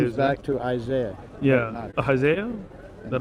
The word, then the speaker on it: Ahaziah: Yeah, Ahaziah? Is that how you say it? Ahaziah.